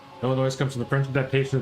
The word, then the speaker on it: Illinois: Illinois. Illinois. I mean, if you didn't if you didn't know to to read it. But yeah, it just says Illinois. They don't pronounce the S.